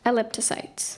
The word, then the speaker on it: elliptocytes: consists of two Greek Parts elliptocytes am I pronouncing this correctly ellip toyes elliptocytes yes e l l i p t o